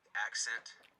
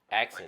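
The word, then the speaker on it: AXNT: up but uh it's it's pronounced accent accent like you speak yeah like you speak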